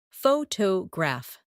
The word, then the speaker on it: photograph: In English, some words are pronounced with extra emphasis on one part. For example, photograph, photographer, and photographic. The stress moves, and that changes the sound.